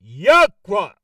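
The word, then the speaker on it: Yahweh: will be using exclusively which we pronounce Yaka that's how we pronounce it the eternal significance of Yakwa's name And it reads, this is from the topical encyclopedia.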